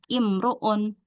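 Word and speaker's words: امرؤ: Intinya kalau ada kata imruun berarti hamzah wasalnya dibaca kasrah ya. Imruun.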